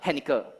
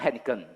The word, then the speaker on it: Henker: Henker. It's not Henkin. Yeah, Henker. So, it's more easy for you to remember this name, right? Henker. So, don't pronounce wrongly.